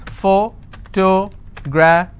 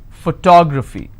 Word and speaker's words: photography: Photography. So this is my ending. I will stress here. Photography.